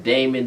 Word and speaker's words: Damon: For everybody who questions this, then you have Damon, D-A-M-O-N.